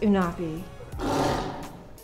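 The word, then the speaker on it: UNHAPI: the unhappy community class it's pronounced anafi oh not B stands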